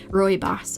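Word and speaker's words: rooibos: So, Roy Boss, I'll actually let me write how to spell that cuz it is not intuitive how it is pronounced.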